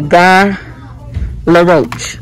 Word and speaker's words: Guy Laroche: Okay, they're making things so complicated, but yeah, say a guy LaRoche.